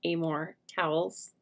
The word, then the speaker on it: Amor Towles: It's, well, I think his name is pronounced Amor Towles.